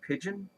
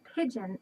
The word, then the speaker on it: pidgin: It's not pigeon like the birds. It's a different word. Here, let me show you. It has the same pronunciation, but a different spelling. A pidgin is a type of language.